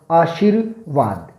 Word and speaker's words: आशीर्वाद: के आशितों वक्त अब यह कि नियम है अगर किसी शब्द के ऊपर रेप के रूप में आया हूं तो जिस वर्ण पर लगता है जिस वर्ण पर लगता है उस वर्ण से पहले उसका उच्चारण होता है जिस वर्ण पर लगता